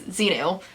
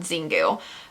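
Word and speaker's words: Xingu: up to this point i've been pronouncing it incorrectly and it's xeno and not zingu uh but xenu and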